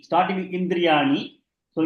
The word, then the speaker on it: इन्द्रियाणि: Shashtani is ending with E, starting with Indriyani. So E plus E becomes E. Manashashtani Indriyani. मनःषष्ठानीन्द्रियाणि Indriyani. मनःषष्ठानीन्द्रियाणि Manashashtani Neelabegam Ni. The D should be pronounced, not Nindriyani.